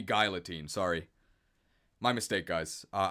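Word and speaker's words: Guillotine: yeah I've been PR I've been pronouncing it wrong it should be guilotine sorry my mistake guys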